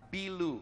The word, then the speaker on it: Bilu: Bilu. Bilu. Okay, I would spell it in English B-I-L-U.